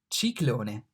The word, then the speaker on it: ciclone: C, ciclone. The C here is pronounced like C in cheese.